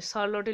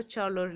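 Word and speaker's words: Charlotte: ঠিক আছে, শার্লটি লুকাস বলতে পারো, চার্লটি লুকাস বলতে পারো, চ বা স উচ্চারণ করবে।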